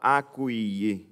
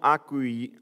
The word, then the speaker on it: accueilli: siens ne l'ont pas à couillet certaines portent un l'ont accueilli comme c'est la prononciation des sables ce mot un accueilli exactement vous avez vous avez bien prononcées et non accueilli il sort ils ont